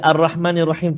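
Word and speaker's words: الرحمن الرحيم: Ar-Rahmanir-Rahim. Cuba. Ar-Rahmanir-Rahim. Ayuh, bagus. Ra tebal, ha pedas ada dan ra pada kalimah Ar-Rahim pun tebal tafkhim.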